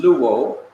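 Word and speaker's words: λούω: And notice, both Greek words are pronounced in the same way. L-O-U-O is pronounced luo, and L-U-O is pronounced luo.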